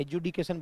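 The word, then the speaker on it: adjudication: मतलब क्या होता है एजुडिकेशन बोलेंगे वैसे डीजे का उच्चारण अ ज ठीक है ना एजुडिकेशन का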